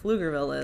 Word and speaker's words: Pflugerville: Because, you know, Pflugerville's written with a PF. Uh-huh. Yeah. So then there's like little jokes everywhere there that for things that are pronounced just with an F, like Pflugerville is, but it has an extra right.